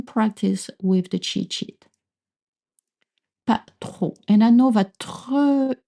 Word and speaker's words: pas trop: Pas trop is used a lot in spoken French to say not much, but really tricky to pronounce. Make sure not to voice the P at the end, right?